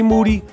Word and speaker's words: Moody: rap for stereo podcast C moody last name rhymes with duty my name is